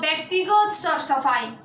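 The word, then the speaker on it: व्यक्तिगत सरसफाइ: It is pronounced as a Byaktigat Sar-Safai. Okay? It means Byaktigat Sar-Safai in Nepali.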